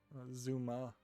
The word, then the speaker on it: Zuma: what is just a Zumba game it's kind of pointless to make a Zuma game um Zuma I think is how you pronounce it not Zumba I think Zumba is